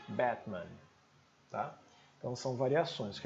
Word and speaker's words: Batman: Então seria Batman né o americano diria Batman o britânico su avisaria a segunda sílaba faria mais glotal só a primeira Batman tá então são variações